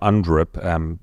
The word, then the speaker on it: UNDRIP: So if you haven't heard of UNDRIP, exactly as it's spelt, UN and then DRIP, D-R-I-P.